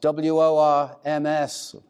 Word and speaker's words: Worms: It was this week, 501 years ago, that he stood in a place called Worms, W-O-R-M-S, spelled in English worms, but in German it's pronounced Worms.